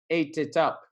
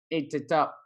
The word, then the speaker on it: ate it up: If you prefer that hard T, ate it up. Ate it up. Or the American kind of D sound, ate it up.